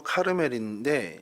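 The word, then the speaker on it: כרמל: 갈멜이라는 뜻은요, 카르멜이라는 히브리 발음으로 카르멜인데, 이게 이제 보통 명사가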